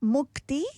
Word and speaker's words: Mukti: So, Mukti, am I pronouncing that correctly? It's Mukti.